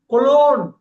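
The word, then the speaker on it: cologne: ஜிய கட் பண்ணுவாங்க ஜிய கட் பண்ணுவாங்க கொலோன் கொலோன் கொலோன் கொலோன் கொலோன் கொலோன் அதான் பர்பயூம் ஆண்களோட பர்பயூம் கொலோன் அத மாலுகல்லாம் போனீங்கன்னா கரெக்டான ஆளு பேசுனா கரெக்டா பேசுவாங்க நம்ம இந்தியன்ஸ் பேசுனாக்க கொலோன்வாங்க ஜிய கட் பண்ணுங்க கொலோன் கொலோன் காலம்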